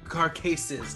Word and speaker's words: Carcases: and we got Carcases. Carcases. I always say it wrong. I always prep to say it right. I got it. Carcases. You said it right both ways.